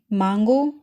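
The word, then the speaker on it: Mango: एम से word है मांगो। मांगो की स्पेलिंग इंग्लिश और जर्मन में सेम है, यहाँ पे जस्ट प्रोनाउंसिएशन डिफरेंट है, जर्मन में मांगो और इंग्लिश में मैंगो।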